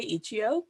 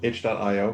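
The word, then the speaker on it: itch.io: really a lot of fun uh we love ichio we constantly debate on how to pronounce it i say ichio which is the correct way no h dot io got it don't worry no one says it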